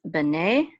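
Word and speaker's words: בני: So this is actually bene, which actually means sons of, not of the sons. Okay. So this is bene, and this is a mercha, and so the accent is on ne, not b.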